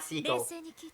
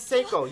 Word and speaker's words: Seiko: It's Seiko, not Seiko.